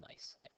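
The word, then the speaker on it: gneiss: slate shist and nice this is pronounced nice you may have heard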